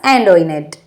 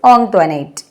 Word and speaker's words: Antoinette: Most of them pronounced it ആസ് ആൻറ്റോയിനെറ്റ്. മിക്കവാറും എല്ലാവരും അത് എങ്ങനെ പ്രൊനൗൺസ് ചെയ്തിട്ടുണ്ടായിരുന്നത്, അവളുടെ പേര് ആൻറ്റോയിനെറ്റ് എന്നായിരുന്നു. ബട്ട് കുഞ്ഞിച്ചിരുത learned from ആൻറ്റോനെറ്റ് that the name ought to be pronounced ഓങ്ക്ട്വനേറ്റ്.